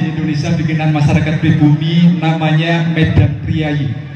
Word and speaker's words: Medan Prijaji: bikinan masyarakat pribumi namanya Medan priayi atau tulisannya kalau bahasa dulu itu Medan prijaji kita membacanya Medan priayi media bikinannya orang Indonesia